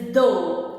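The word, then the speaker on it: ਦੋ: The number 2 is do as in although.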